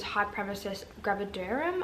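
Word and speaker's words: hyperemesis gravidarum: my doctor diagnosed me with hg which is high premises gravidarum and that's how you say it um which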